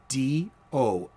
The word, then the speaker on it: doiby: dickles and doiby it was spelled in the comic books d-o-i-b-y doiby and it was for his hat he wore a derby-style hat and that's how the in the gotham might the gothamite would pronounce it a derby hat as a doiby hat you get it you